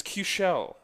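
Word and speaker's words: Keuchel: his name was Jason it's q show okay I looked it up today like Michelle except couche loq show awful and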